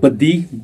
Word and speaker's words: baddi: that i mentioned earlier on we call it baddi - B A D D I if you spell it in english and as i mentioned earlier